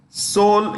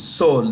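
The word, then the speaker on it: Seoul: Singapore city is capital soul is a capital of South Korea that's how you pronounce it Soul the E is silent Soul then Beijing the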